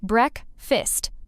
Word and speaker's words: breakfast: Breakfast, not breakfast. Say break-fist.